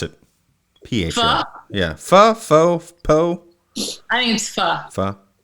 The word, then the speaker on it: pho: Foo? Yeah. Huh? Foo? Foo? What? Fo? Fa? Pho? How do you pronounce it? Ph. Pho?